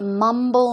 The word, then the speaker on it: mumble: can you guess what Mumble means I'll give you an example let's check it out okay so to mumble the stress goes on the first syllable for example is Mumble